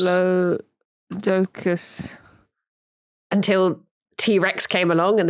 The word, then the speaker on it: Diplodocus: If following the Greek rules, the correct pronunciation should be Diplodocus with a soft O to rhyme with Liplodocus.